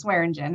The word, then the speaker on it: Swearingen: Swearingen. Say your last name. I'm sorry, I just butchered that. That's okay. Actually, it didn't do too bad. It's Swearingen and I'm here.